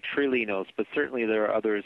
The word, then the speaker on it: Trilinos: for a number of months now calling it trilinos but i guess that's not actually the correct way it's pronounced how is the package actually pronounced uh we tend to say truly notes but certainly there are others who pronounce it